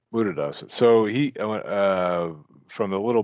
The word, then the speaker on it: Buddhadasa: Well, Buddha Asa, right? Is it Bhikkhu Buddhasa? Am I pronouncing that right? He Yeah, Bhikkhu Buddhadasa. Uh-huh. Buddhadasa. There we go. Buddhadasa.